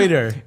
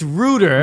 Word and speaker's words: Ruder: Every single time Reuter. It's Ruder, but you say Reuter.